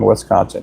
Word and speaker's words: Wisconsin: When I lived up there, they corrected me on my pronunciation of Wisconsin. I always said Wisconsin, and they said it's Wisconsin.